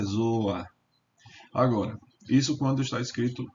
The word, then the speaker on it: Ζῷα: O i não pode ficar subscrito. Ainda que ele não seja pronunciado, ele tá aqui. Então, aqui você está vendo za, ô, i, alfa. Mas não se deve ler, veja bem, não se deve ler zoia, mas sim zoa zoa e não se